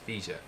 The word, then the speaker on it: Fija: Many Okinawans don't know that Higa in Uchinaguchi is Fija, and that this name became only pronounced as Higa after Japan established Okinawa Prefecture in 1879.